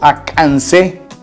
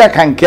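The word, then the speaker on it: Acancéh: Acanqué se puso ese nombre y se les puso Acancé cuando había cedilla abajo y sonaba como K, la C. Entonces, decir Acanqué ahorita con C, bueno, está en medio de la nada.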